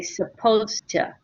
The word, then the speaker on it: supposed to: Okay, when we say it, we do not pronounce the ed on supposed. Okay, we just say supposed to.